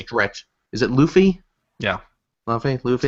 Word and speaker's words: Luffy: Yeah, Luffy. Say it right. Lufa.